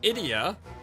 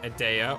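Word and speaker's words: Edea: which is and then idia idia apparently that's how you say your name not AA or ideia idia I don't know if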